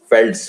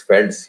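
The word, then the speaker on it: Velds: South Africa में फेल्ड्स, ये वैसे वी से शुरू है लेकिन इसको प्रोनाउंस करते हैं फेल्ड्स, फेल्ड्स याद रखना।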